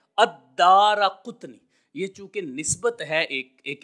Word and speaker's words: الدارقطنی: الدارقطنی۔ دیکھیں عمومی طور پر بعض لوگ اس کو دارقطنی یا دارقطنی پڑھتے ہیں، تو جو محدثین کرام نے اصل تلفظ بتایا ہے وہ یہی ہے الدارقطنی۔ یہ چونکہ نسبت ہے،